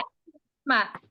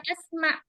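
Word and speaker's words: اِسْمَعْ: Nah, isma. Bukan asma, tapi isma.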